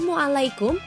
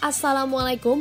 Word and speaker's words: Assalamualaikum: membiasakan memberikan salam, namun terkadang tata cara pengucapan kurang tepat, seperti mu'alaikum atau kum, atau bahkan saat mengajarkan kepada anak dengan logat seperti halnya anak kecil yang masih terbata-bata. Padahal Islam tidak membenarkan jika kita mengucapkannya seperti itu. Dalam Islam, pengucapan salam yang benar adalah Assalamualaikum warahmatullahi wabarakatuh.